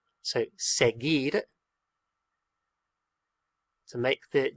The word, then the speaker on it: seguir: What that U is doing is making the G a G sound. A G sound, because if the U wasn't there, we would have to pronounce it seguir, seguir, and that's not the word.